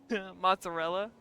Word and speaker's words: mozzarella: How do you pronounce mozzarella? I add a T in there for some reason.